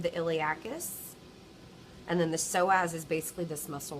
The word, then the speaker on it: psoas: The P is silent. I can see a small portion of the iliacus. And then the psoas is basically this muscle right here.